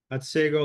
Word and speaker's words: Otsego: Otsego Lake. That's how you say it.